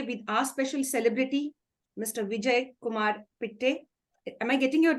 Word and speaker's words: Vijayakumar Pitta: Vijayakumar Pitta. Am I getting your name right, sir? Yes. Vijayakumar Pitta. Vijayakumar Pitta. If I mispronounce it, sorry for that.